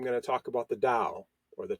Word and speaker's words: Dao: It's how the word is usually pronounced in modern Mandarin Chinese. So what is the Dao?